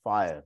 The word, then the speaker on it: FHIR: last three to four years it's called fhir pronounced fire so it's fast Healthcare interoperability resources so fire